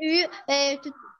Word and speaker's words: eu: On prononce pas comme ça. C'est U. J'ai eu.